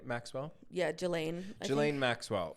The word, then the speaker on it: Ghislaine: Yeah, Ghislaine.